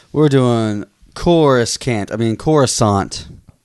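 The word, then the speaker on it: Coruscant: doing chorus I mean corusant corusant corant corusant the C is silent which is the when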